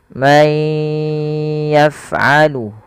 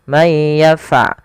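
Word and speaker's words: من يفعل: May yaf'alu, hati-hati dan pada huruf fa jangan memantul, jangan may yaf'alu. Nah, ini memantul fa-nya. Hati-hati, tapi dia bagaimana supaya melafalkan huruf fa yang w, yaitu alirkan nafasnya yaf.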